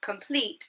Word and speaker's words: complete: And the last one, complete, is also in the first syllable.